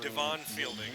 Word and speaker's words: Devon Fielding: Well, I've been mispronouncing it. They're saying Devon Fielding, not Devon.